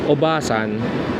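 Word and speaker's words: おばさん: ba and and you just pronounce it very short obasan it's Auntie it's Aunt so you have to be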